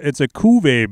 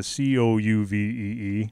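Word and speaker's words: Cuvée: Yeah, it's a Cuvee beer. So Cuvee, not the Couvee.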